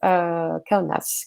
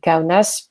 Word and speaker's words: Kaunas: Vous noterez que je prononce Kaunas, mais si je vous prononçais à la lituanienne, je ne vous prononcerai pas comme ça, mais je ne vous ferai pas cet affront. Kaunas, donc qui est plutôt